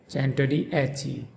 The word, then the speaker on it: Centodieci: In Bugatti, the emphasis is on the second syllable ga, Bugatti, and in chen-toh-dee-EH-chee, the emphasis is on the fourth syllable a, chen-toh-dee-EH-chee, Bugatti Centodieci.